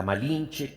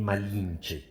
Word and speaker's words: Malinche: sus capitanes condenándolo esclavitud los indígenas que no pronunciaban la r La llamaron malinzin nombre que para los oídos españoles se transformó en malinche malinzi hablaba cuatro idiomas